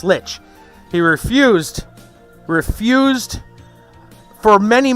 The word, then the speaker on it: Lich: it in WoW right Lich right rhymes with witch basically but he swore he swore that it was pronounced li like lonstein and I tried my darnest to tell him no it's Lich it's Lich he refused